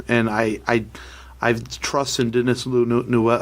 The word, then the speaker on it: Villeneuve: I don't really know much about it, so but this cast is incredible, and I trust in Denis Villeneuve.